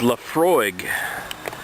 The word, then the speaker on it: Laphroaig: all right this is laphroaig i la single malt scotch whiskey i know the pronunciation seems weird but it's gaelic so you have to